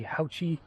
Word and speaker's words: Haoqi: guys this is the houchy Antelope Pro it's an 1899 uh e-bike Fat Tire e-bike 20x4 tires uh that uh Hachi makes here that's how it's pronounced I did ask them